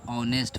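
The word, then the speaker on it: honest: जैसे यहाँ पे ऑनेस्ट पढ़ेंगे तो इसका उच्चारण ओ आ रहा है, तो क्या लग जाएगा, यहाँ पे एन लग जाएगा, ठीक है, एन ऑनेस्ट मैन हो जाएगा।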